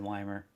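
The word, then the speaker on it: Wimer: Is it Weimer or Weimer? Like a German name. When I had the game on last night, they said Weimer. It's Weimer. Okay.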